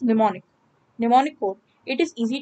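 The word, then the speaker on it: mnemonic: M is silent hair, it is known as निमोनिक।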